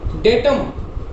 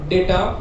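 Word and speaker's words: data: डेटम, डेटा। अब देखिए हम बहुत सारे वर्ड्स यूज करते हैं गलत, जैसे हम डाटा बोलते हैं। पहली बात तो इसका उच्चारण क्या होता है? डेटा।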